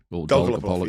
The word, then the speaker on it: Dolgopolov: How did you pronounce his name? Dolgopolov, yeah.